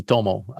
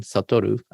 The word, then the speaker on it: Satoru: So my name is Satoru, but I'm known to be Tomo. That's my English nickname, because I use my Chinese symbol for my name, Satoru, has another pronunciation, Tomo.